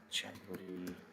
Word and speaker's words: Januar: So let's say we have January, February, and so on. Okay, it is pronounced as Januar, Januar, Januar. As we know, J is always pronounced as Ya, Januar, Februar, Februar, Februar, Februar,